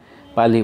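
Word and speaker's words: parley: ठीक है, पाली का मतलब सिंपल आप समझो, इसमें आर नहीं बोलोगे आप, ठीक है, पाली बोलोगे, इसे आर साइलेंट है।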